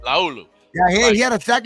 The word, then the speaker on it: Laulu: How do you fucking say it? Leola? Laulu. That's how you say it. Laulu.